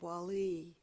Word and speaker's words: Wali: And Wali with the emphasis on the second syllable, is bringing it in, taking that place that's inside that deep wisdom place of friendship, deepest friendship, warmth.